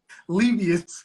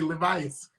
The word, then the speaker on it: Levius: to get it wrong how do you say your last name again this libya see i was going to say levis is a